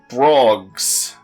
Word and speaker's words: brog: There's a load of cute brogs on the beach near Anti-Air Battery 1. I know brog is the actual pronunciation because they say it out loud at some point.